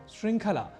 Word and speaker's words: श्रृंखला: भी जोड़ लेते हैं जैसे एक शब्द है श्रृंखला इसे श्र इस संयुक्ताक्षर के प्रयोग के साथ हम ऋ का प्रयोग कर दिया करते हैं यह भी ध्यान देने वाली बात है जबकि उच्चारण और लेखन न की दृष्टि से श्रृंखला यही सर्वत शुद्ध होता है यह हमें ध्यान